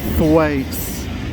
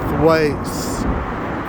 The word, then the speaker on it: Thwaites: Now this is a very commonly mispronounced word called, the brewery there is called Thwaites, right?